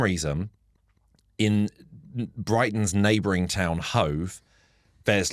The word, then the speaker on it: Hove: And they, for some reason, in Brighton's neighbouring town Hove, there's like a meme basically of Hove actually, because it's one letter away from love actually, but you go pronunciation wise, they're completely different.